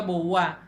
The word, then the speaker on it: Beauvoir: lo más que pueda, porque esta mujer llamada Simone de Beauvoir, así es como se pronuncia, así se escribe, pero se pronuncia Beauvoir.